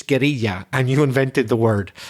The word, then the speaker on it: guerrilla: You wage war, and it may be guerrilla warfare. I know in Spanish it's guerrilla, and you invented the word, but our English pronunciation of it is guerrilla.